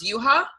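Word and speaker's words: Yuhua: you ha ha Misaki no it's but is why you hua but it's pronounced you ha you ha ok I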